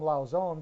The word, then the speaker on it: Lauzon: And Lauzon, I always call him Lauzon because that's how you say it in French.